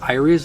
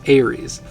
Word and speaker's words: Aeries: I think I pronounced Iris. I pronounced that word Iris wrong, and I forget who mentioned that in the comments, but thank you for letting me know. I think it's Aeries.